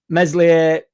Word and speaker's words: Meslier: Um, Meslier, Silent S dropped.